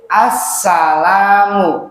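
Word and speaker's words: السلام: Assalamu bacanya bagaimana? Ulangi. Assalamu sin pada huruf sin. Jadi di situ ada tasydid.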